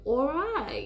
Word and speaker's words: awry: you trying to go the American Way of all right you know but no that's not what it is the correct pronunciation right the Harvard Oxford pronunciation you know